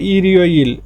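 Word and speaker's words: 일요일: এই যে ইয়োইল মানে বার, আর রিউলটা এখানে চলে যাবে ইয়ং এর এখানে দিয়ে, ই রিওইল উচ্চারণটা হবে ই রিওইল রবিবার, উয়ারিওইল সোমবার, হোয়া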